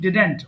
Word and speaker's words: didn't: তাহলে আমি একবার বলছি আই ডিডেন্ট ডু, এটা হবে ডিড নট কে আমরা একসাথে বলছি ডিডেন্ট, অনেকে ডিডন্ট বলে, উচ্চারণ হবে ডিডেন্ট simply, I ডিডেন্ট ডু।